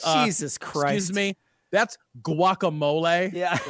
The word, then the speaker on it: guacamole: when She she says does that, she or- doesn't pronounce the G in guacamole. It's just guacamole. So it sounds like whack-a-mole.